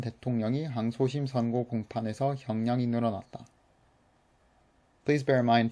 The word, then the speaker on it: 형량: that they're spelt, and this is one word, 형량, so it's spelled like 형량, but it's pronounced with a niun, 형량.